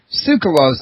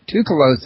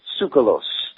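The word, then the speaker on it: Tsoukalos: pronounce his last name sue cause I always pronounced it too close if I've been getting it wrong it's it's that T&S together thing like what's the Chinese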